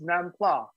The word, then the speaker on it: nam pla: It's nam pla. right? That's how you pronounce it.